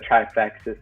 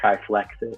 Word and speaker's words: Trifexis: Oh, one of them was like instead of trifexis, someone said triflexis, and it's like, oh, you get a new car.